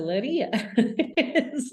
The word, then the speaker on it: Leiria: And Leiria, is it Laria? Is that how you spell it? Leira. L-E. Okay. Got it. Leira. You think of it like Princess Leia, so Leiria.